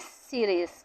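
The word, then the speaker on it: Sirius: Bright star, it इज सीरियस, ठीक है, सीरियस भी बोल सकते हो, साइरियस भी बोलते हैं, जैसे आपको प्रोनाउंसिएशन करो वैसे बोल सकते हैं इसको, ठीक है।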